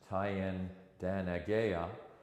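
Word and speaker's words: Thayendanegea: And in the winter of 1775-76, Joseph Brant, whose Mohawk name was Tyen Danagea, I've been told by people I trust that it's spelled TH, but it's meant to be a hard T sound.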